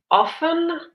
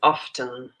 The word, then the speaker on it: often: This word often, you will hear it pronounced often and often. This little word here. Both are correct.